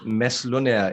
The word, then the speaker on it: Mads Lundager: We have Mads Lundager. Did I say that correct? Yes. Is it? I did say it right? Yes, it's Mads Lundager in Danish, but no one can pronounce Danish, so it's perfect let's with say Lundager.